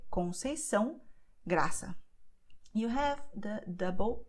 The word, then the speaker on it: Conceição: So you have the letter C cedilha, which always will sound like S, like sun. So you say Conceição, Graça.